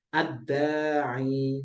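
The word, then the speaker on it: الداعي: Ya-nya tidak usah dibaca dan sebelumnya kasroh, berarti bacanya ad-da'i.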